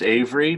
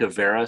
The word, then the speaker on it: Avery: my family so it's it's it's pronounced Avery but it sure has had like a Vera so we answer to